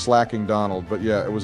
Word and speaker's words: Slaking: have PTSD from that slaking it's pronounced slacking Donald but yeah it